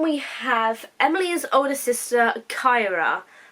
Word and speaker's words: Kaira: So then we have Emilee's older sister, Kyra. Kind of I think it's the capital of Egypt. I think that's Cairo. But her name is spelled Kaira, which I'll put on the screen for you so you don't get confused.